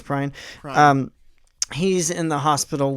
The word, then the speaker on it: Prine: And as of this recording, John Prine or Prine, I'm honestly not quite sure how to pronounce it. Prine. It is Prine.